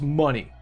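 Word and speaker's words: Munny: Sharka12 money, and it's spelled exactly like how it is on the screen here, if you can read it. M-U-N-N-Y. Like Kingdom Hearts or whatever. It's money.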